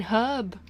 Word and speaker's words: herb: Americanization after all Americans still haven't learned how to pronounce the freaking H in herb Americans Americans why it's